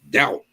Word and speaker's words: doubt: Doubt. Why's the B in there?